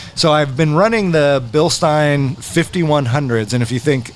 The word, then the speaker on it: Bilstein: No, it's Bilstein, like a beer stein. Get it? Or Frankenstein. Bilstein, beer stein, Frankenstein. So you have to say it kind of angry German.